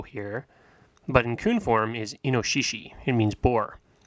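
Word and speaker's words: 猪: new Ki just like that the first one pronounced Cho here but in form is inoshishi it means bore it's not actually in my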